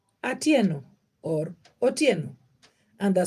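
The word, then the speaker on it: Adhiambo: boy o Theo Oho for a boy and AO like myself I'm called AO I was born at that time so how do you spell that name the Amo you spell it this way a d h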